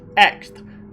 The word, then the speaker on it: X: the x form yes that is pronounced x not tenth not crossed x acquired a new